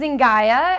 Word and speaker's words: Zynga: How is it pronounced? I think it's Zynga.